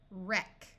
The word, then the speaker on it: wreck: this should be WR WR at the start of a root the W will be silent so this sound is r ER wrist wrist wreck we can add suffixes